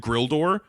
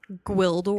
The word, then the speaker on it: Gwildor: notes because it fucking sounded like everybody said Grildor. Is it? And then in the credits, it was GW. Gwildor?